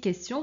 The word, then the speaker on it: question: la pollution bon ici question c'est une c'est une exception hein t i o n mais on prononce t alors invention solution pollution